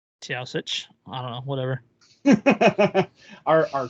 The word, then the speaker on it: Taoiseach: Or no, okay, it's Taoiseach. Taoiseach. Taoiseach.